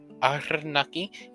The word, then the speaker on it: Arnaki: They just always told us you have to roll the R. And, Arnaki, it sounds sort of cool, doesn't it?